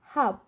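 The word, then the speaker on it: half: আবার এফ এর আগে যদি এল থাকে সেক্ষেত্রে আমরা দেখতে পাচ্ছি সঠিক উচ্চারণ হবে দেখুন হাফ, এটার ক্ষেত্রে হবে কাফ।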